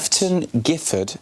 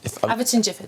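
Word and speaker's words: Aveton Gifford: Eafton Gifford. Averton Gifford. Thank you very much. I'm glad you're here to pronounce things for me, which is near Ashford.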